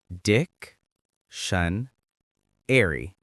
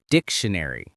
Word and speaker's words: dictionary: Let's practice the pronunciation. Dic-shun-ary. Say it with me. Dictionary.